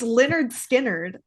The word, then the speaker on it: Lynyrd Skynyrd: It's Leonard Skinnerd. Okay. Yeah, but it Leonard. is spelt like Lynard, if we're being honest.